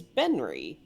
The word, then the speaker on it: Benry: But yeah, you see on his name tag, his name is Benry. Hmm. Can you spell that? Ben. Yes. It sounds like Henry, but with a B instead of an H.